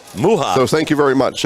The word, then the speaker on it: Muha: And we do have the pronunciation, Jessica Muha. Muha.